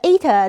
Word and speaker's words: eta: okay, and at the eta neighborhood. So that thing there is pronounced eta. At least that's what the internet says.